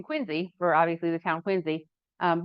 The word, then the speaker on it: Quincy: Uh, so I did a a chapter uh in Quinsey for obviously the town Quinzy um which is not pronounced Quincy as you all know.